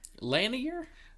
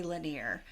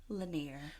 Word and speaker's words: Lanier: talk about Lake lener lener okay so some people say lener but people who live there say laner I used to say laner too it is correctly pronounced laner well well people that